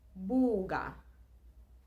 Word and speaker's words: buga: Buga. Buga. And that is look. A is still being pronounced the same way, and U is pronounced U as it will always be pronounced every time you see it.